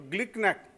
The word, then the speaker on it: GlcNAc: So GLICNAC, it's a nice thing to remember, GLICNAC. I was always wondering how to pronounce GLCNAC, but my American biochemist friend told me GLICNAC. So it's nice to pronounce GLICNAC.